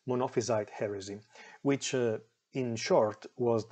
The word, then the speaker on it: Monophysite: he was a believer of the thing is pronounced monophysite monophysite heresy which in short was the heresy that